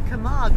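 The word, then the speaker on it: Camargue: it's called the K I've discovered it's called the Kamar region so I have been pronouncing it incorrectly thank goodness for Emma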